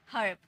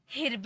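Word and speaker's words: herb: उसके बाद र ब, हर्ब। इसे हिर्ब नहीं पढ़ेंगे, ठीक है, इसे ई मत पढ़ना, हिर्ब नहीं पढ़ना, हर्ब, अ का साउंड आता है, हर्ब।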